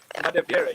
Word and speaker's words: Madavere: Madavere, yes.